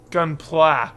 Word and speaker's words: Gunpla: I learned that gun gunpla is how you pronounce it gunpla gun play um so